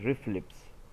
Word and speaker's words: RFLPs: DNA finger printing जिसको RFLPS कहते हैं, इसको हम प्रोनाउंस करेंगे रिफ्लिप्स। तो डीएनए फिंगर प्रिंट को रिफ्लिप्स भी कहते हैं।